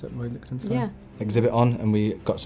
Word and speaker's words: Lichtenstein: Is that how you pronounce it, Roy Lichtenstein?